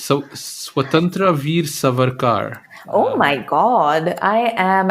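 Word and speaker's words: Swatantrya Veer Savarkar: then there's one that I how do I pronounce so swatantra Veer savarkar oh my God I am absolutely shocked at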